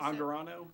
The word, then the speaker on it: Angarano: I always Angarano.